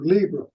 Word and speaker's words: Libra: Sun and moon in Aries, and Earth and Saturn with opposing Libra, or Libra, as the Americans say.